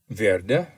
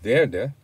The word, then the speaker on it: werde: Notice that the W has the sound of V.